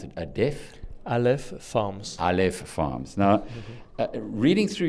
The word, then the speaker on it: Aleph Farms: who's the chief executive of, how do you pronounce it, Aleph Farms.